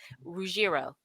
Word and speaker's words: Ruggiero: Ruggiero, You Ruggiero, got Ruggiero. But I want to spell it.